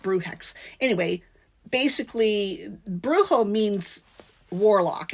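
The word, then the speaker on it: Brujex: are U JX uh so you're not saying bruo or bruha you're it's it's a a non non-gender word bruex anyway basically bruo means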